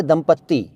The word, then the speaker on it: दंपति: लोग लिखते और बोलते हैं दंपति और दंपत्ति और दंपत्ति, और भी तरह तरह की स्पेलिंग्स यूज़ करते हैं, लेकिन असलियत में शब्द है दंपति, दंपति, दंपति। द पर बिंदु, प त पर बड़ी ई की मात्रा, दंपति।